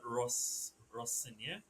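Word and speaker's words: Rosenior: Um Liam has been Ros Russia. That is how you pronounce it right now.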